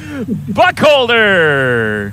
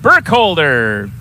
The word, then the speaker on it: Burkholder: wherever that is it's Justin Buck holder Burkholder Justin Burkholder sorry Justin he's gonna watch